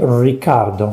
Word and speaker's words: Ricciardo: what he says here richardo pronounces his name ricardo so he actually chose to be called ricardo instead of the italian pronunciation richard and this is because the